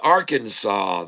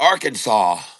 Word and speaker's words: Arkansas: That sure looks like our Kansas to me. Just saying. And uh anyway, but Arkansas Nice. It's got the silent S on it, folks.